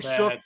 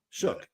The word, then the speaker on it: Shough: I'm leaning Shook because if everything is equal and they all suck, you might as well go with the young guy.